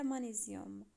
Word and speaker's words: magnésium: oxyde de magnésium كاينه الجي والان ما كنقولوش مغنيسيوم بالفرنسي، كنقولوا مغنيسيوم، يعني الجي هنا موي ما كتنطقش. oxyde de magnésium هو اكسيد المغنيسيوم. كيف ما لاحظتوا في العربيه كنقولوا المغنيسيوم، يعني في الفرنسيه مانيزيوم.